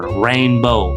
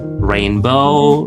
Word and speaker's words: rainbow: Jadi rinbow apalagi kosakata yang awalannya R. Rainbow, rain, kemudian recharge ya.